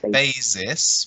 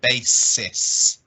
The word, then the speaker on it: basis: it or he and this sound here is a s so we don't say basis we say basis good have a great